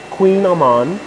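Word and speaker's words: Kouign-amann: ampersand coffee and a i might be mispronouncing this a queen amman i'm gonna pronounce it as uh some other people pronounce it queen aman as a he so welcome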